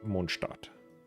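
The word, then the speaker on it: Mondstadt: which theoretically should be pronounced monstat but uh English localization team doesn't really care.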